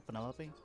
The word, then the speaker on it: Penelope: is that short for penelope officially yes but i never can be bothered with all four syllables of it penelope sounds a little